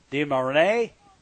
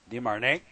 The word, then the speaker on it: DeMarigny: Here's Caleb DeMarinay. I think that's how he pronounces it. DeMarigny is how it's spelled, but I don't think that's how it's pronounced. DeMarinay.